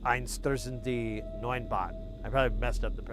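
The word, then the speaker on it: Einstürzende Neubauten: I probably messed up I've been trying to pronounce it more like it's supposed to be, because normally I just pronounce it with my American twang, and it's Einstürzende Neunbauten. But the meter is wrong. Like how you go through the word, like the emphasis and metering is off.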